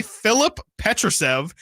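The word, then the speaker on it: Filip Petrušev: Nate thank you please Philip SP with an F so not the pH Phillip Phillip Petra thank you I believe that's the pronunciation the Clippers are trading center Phillip petev petev that's what I was going about okay Phillip petrusev and cash to the Sacramento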